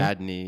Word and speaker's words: Ariadne: that's where we meet Ariadne. How do you say her name? Ariadne, yeah. Ariadne.